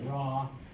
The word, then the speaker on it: Ra: Now um you will see different names okay and that is just because over time okay um Rey was given some people pronounce it raw.